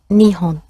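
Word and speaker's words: 日本: The word for Japan is Nihon, and it comes from two words.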